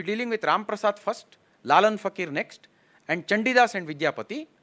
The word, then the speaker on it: Lalan Fakir: Lalan Fakir, the pronunciation was not right when the announcement happened. It is Lalan Fakir, Lalan Shah Fakir, Sufi.